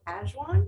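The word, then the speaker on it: ajwain: just talking about this before our demo called azuan and it's spelled a-j-w-a-i-n it's often used in indian and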